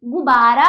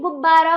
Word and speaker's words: गुब्बारा: हम यह है गुब्बारा बताइए गुबारा होता है या गुब्बारा होता है गुब्बारा होता है है ना गु बा रा गुब्बारा ये क्या है